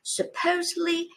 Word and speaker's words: supposedly: Apparently, inevitably, remarkably, supposedly, ultimately. As you can see, the last one is the only one with the stress on the first syllable. The others have it on the second.